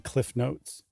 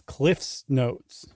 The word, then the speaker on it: Cliff's Notes: I said it wrong the first time. It's never been Cliff Notes. It's Cliff's Notes.